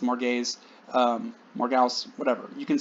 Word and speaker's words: Morgause: wife whose name is more gays a lot of modern adaptations pronounce it morgause which is fine that's closer to how it's spelled m-o-r-g-a-u-s-e or sometimes with